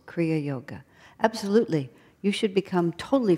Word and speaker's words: Kriya Yoga: Kriya Yoga. Two words. 4 syllables. Kriya Yoga.